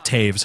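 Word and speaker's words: Toews: Same thing with Taves. How do you get a V sound from OEWS?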